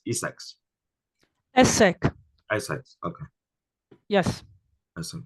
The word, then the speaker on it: ESSEC: Claudia, your business school, is that read out every alphabet or is pronounced as Essex? Essex.